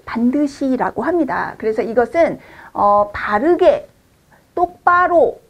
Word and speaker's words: 반듯이: 똑바로 서 있는 경우를 반드이라고 씁니다. 그리고 발음은 반드시라고 하죠.